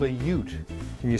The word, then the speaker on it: Ute: It's called a Ute, and you spell that U-T-E.